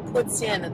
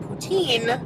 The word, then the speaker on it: poutine: and it is pronounced puts in that is the french way to say it um anglophone people will call it poutine but it is actually